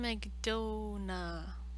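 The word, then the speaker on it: McDonagh: Martin McDonough. It's not donut, but it's close.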